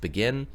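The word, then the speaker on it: BGIN: financial services of Japan they call it the BGI n pronounced begin its purpose is one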